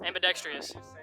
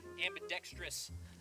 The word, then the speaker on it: ambidextrous: do we say it ambidextrious I like saying it wrong ambidextrious it also has ambidextrious ambidextrious ambidextrous ambidextrious ambidextrous it's got